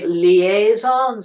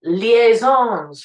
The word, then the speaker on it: liaisons: with Angela Lansbury, um, she didn't say liaisons, she's saying liaisons, what's happened to them, which is the proper way to pronounce the word. Mm-hmm. Got permission from Sondheim to do that. And it's like, sorry, Steve, you put the emphasis on the wrong vowel.